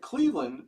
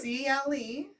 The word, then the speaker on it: Cleveland: CLEVELAND. Now say it. Cleveland. But people say Cleveland. Cleveland. Not Cleveland. Cleveland. Right? Like the Lend, Detroit. like a lend? Yeah, isn't that weird? I don't know. Cleveland, not Cleveland.